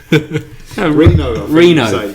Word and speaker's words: Reno: is now in trouble in um Reno Nevada reyno is it how you say it Deborah Jeremy Renner Reno Reno Nevada slow down Nevada this is your